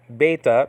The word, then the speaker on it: beta: Spelled out beta. Nowadays called vita though. That could be a V in modern Greek. A B or a V.